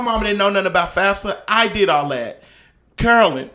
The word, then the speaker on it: FAFSA: I thought it was FAFSA. FASFA.